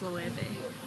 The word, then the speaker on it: Loewe: I thought it was called Loewe. It's pronounced Loewe. And it's at L-O-W-E? L-O-E-W-E. Yeah, it's Loewe. It's Loewe.